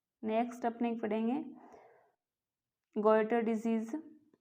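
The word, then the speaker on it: goiter: Next अपने पढ़ेंगे गोइटर disease. ये फ्रेंड्स केतर नहीं है, गोइटर है, हिंदी में बोलते हैं घेंगा, हिंदी में याद रखिएगा आपको, इंग्लिश में गोइटर, ये स्पेलिंग है इसकी,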